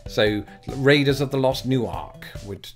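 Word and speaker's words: Newark: New York so there's still an emphasis on that first syllable but they also emphasize the word Ark that's in there so Raiders of the Lost new Ark would not that's not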